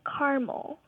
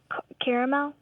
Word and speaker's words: caramel: my mom calls it caramel so I'm like what uhuh and where's your mom from my mom's from Texas okay so Dad pronounces it with three syllables and she pronounces it with two yes and you take